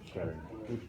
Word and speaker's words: Scheldt: Do you know how that's pronounced? The Scheldt. Can you give it a go? No, Scheldt.